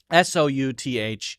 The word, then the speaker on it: South: the end then it's pronounced South with the ow sound I don't know why